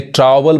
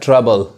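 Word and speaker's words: trouble: अब इसको देखिए ट्रावल, बहुत लोग कहते हैं ट्रावल, तो ट्रावल भी नहीं पढ़ाता है, क्या पता है, ट्रबल, ट्रबल, समझ में आ रहा है। ओ साइलेंट होता है, इसका मतलब क्या होता है, परेशानी।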